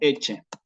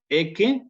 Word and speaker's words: Ecce: Que me va a sonar, y en eclesiástico me va a sonar como eche. Eche agnus Dei. He aquí el Cordero de Dios, que se dice en la misa tridentina, ¿sí? Ecce en clásico, eche en eclesiástico, ¿no?